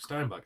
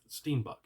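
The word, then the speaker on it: steenbok: and then also uh steenbuck steenbuck steinbuck I keep saying it wrong but steenbuck stay tuned for the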